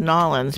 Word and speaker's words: New Orleans: Lang always said Nolans because he's from Nolans, so that's how he pronounced it growing up.